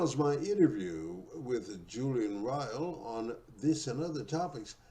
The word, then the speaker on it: Ryall: It rhymes with vile. Ryall.